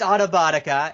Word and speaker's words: Autobotica: It's Autobotica. Autobotica, okay. Yeah, it sounds very similar to from Transformers.